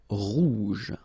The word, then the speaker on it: rouge: Remember, G-E, je. Rouge.